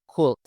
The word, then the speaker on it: could: Nah, untuk pembacaannya, could itu bukan dibaca could, tapi huruf L-nya tuh kayak hilang gitu ya.